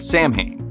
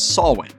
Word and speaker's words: Samhain: But in Irish, the MH letter combo is pronounced like a W, so a better approximation of how it should be said is Samhain.